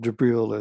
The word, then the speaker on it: Jibril: Jibril is how it's spelled and pronounced in the Islamic tradition, but it's the same